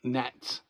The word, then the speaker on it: gnats: So the G is silent. Gnats.